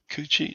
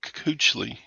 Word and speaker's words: Kuechly: Coochie? No, Coochly.